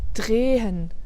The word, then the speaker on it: drehen: Der Zahn, der Stuhl, drehen, wohnen. Quoique dans drehen, on l'entend presque. Hein. Drehen, wohnen. Mais en tout cas, c'est pas drehen, drehen, drehen. Donc là, il est vraiment